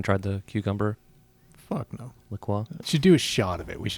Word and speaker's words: La Croix: I have the pineapple strawberry La Croix. Mhm. Delicious. I sampled one earlier. I pronounced it delicious.